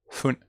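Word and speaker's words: ふね: Normalmente un fallito que estoy haciendo es que a veces cuando se pronuncia el fu no es una f muy fuerte, sino que es más como casi como una H, más como fune, furui, Fuji-san.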